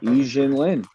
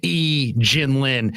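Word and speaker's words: Yi Jianlian: Yi Jin Lin. Yeah, that was my guy. So, I mean, how many people would get E Jin Lin and not pronounce it Yi?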